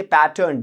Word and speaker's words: pattern: आप पैटर्न नहीं कहेंगे, आप कहेंगे पैटर्न। Just check the pronunciation, go to Oxford, Cambridge, whatever dictionary you prefer, just check it. पैटर्न नहीं मिलेगा आपको प्रोनाउंसिएशन। क्या प्रोनाउंसिएशन है? पैटर्न।